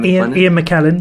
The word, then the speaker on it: Ian McKellen: Yeah, Ian McKellen.